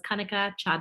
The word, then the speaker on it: Kanika: it's okay yeah okay but kanika rhymes with hunter okay very good all